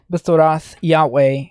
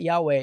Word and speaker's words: Yahweh: in two different ways this is the name of god yahweh we actually don't exactly know the pronunciation but yahweh is probably the correct name or close enough now when jews read this text they don't pronounce yahweh they say adonai because they didn't want